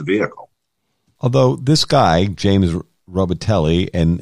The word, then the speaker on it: Robitaille: Although this guy, James Robitaille, and it's spelled Robitaille with a French pronunciation, right, is Brianna's on-again, off-again boyfriend.